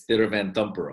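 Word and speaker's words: Thiruvananthapuram: if you want to real get ethnic it's theater van dumper oh i won't i won't hold you to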